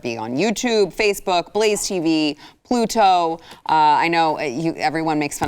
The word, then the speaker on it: Pluto: will have you know there is a T in there. It is Pluto, and I'm the one who's saying it right, and you all are the ones who are saying it wrong.